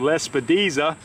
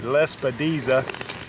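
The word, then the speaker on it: Lespedeza: be honest with you, but this is called Lespediza. Let me see if I can spell that. L-E-S-P-E-D-E-Z-A, Lespediza.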